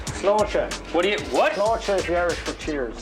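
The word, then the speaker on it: Sláinte: Slocher is the Irish for cheers. Slocha. Sloer. Spell it.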